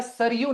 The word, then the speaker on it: सरयू: Answer हो जाएगा सरयू नदी, ठीक है, सरजू नहीं, सरयू नदी।